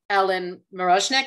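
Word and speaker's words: Ellen Mirojnick: to the period, but the fabric choices that Ellen Marozhnik, is that how you say her name?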